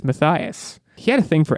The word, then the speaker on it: Matthias: red wall is matthias i always in my head pronounced it as mathias which is wrong so this was a learning experience for me i learned it's madame it's it's mathias he had a thing